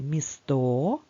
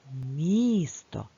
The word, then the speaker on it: місто: визначимо наголос Спробуй самостійно Ні ми не будемо кликати місто адже правильно казати місто то ж наголос буде стояти на букві і поставимо правильно наголос і